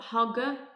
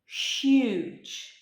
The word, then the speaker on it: huge: this down large huge be aware of the pronunciation not hugger or Uche huge gigantic massive enormous okay